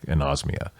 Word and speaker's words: anosmia: And then they suggest updating your COVID vaccination as a treatment for anosmia.